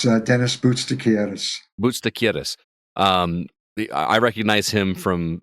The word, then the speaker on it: Boutsakaris: Sharpe, Dennis, and again, you're going to have to help me with the pronunciation of his last name. Is it Boutsakaris? It's Dennis Boutsakaris.